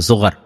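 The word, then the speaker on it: زغر: এই জোগার spring of জোয়ার, এই জোয়ার নামক ইংরেজিতে জোয়ার, আর আরবিতে, হিব্রু এবং আরবির উচ্চারণের পার্থক্য, আরবিতে জোগার, জা গাইন র, আর ইংরেজিতে জোয়ার, স্প্রিং অফ জোয়ার।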